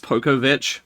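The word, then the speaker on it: Pokowicz: It's pronounced Pokovich, but yeah, it's fine. Isn't it? It's WICZ, right? Yeah, but in the actual language that's from, that'd be a Vich, is how you'd say that.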